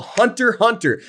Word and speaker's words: Hunter x Hunter: It's called Hunter x Hunter. There's an X in the middle, but you don't pronounce the X unless you want to